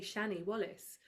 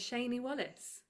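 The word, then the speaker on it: Shani Wallis: mispronounce my name as Sheney, but I've been mispronouncing the iconic Nancy of the Oliver movie my whole life. I say Shannie Wallace. Her name is Sheney Wallace.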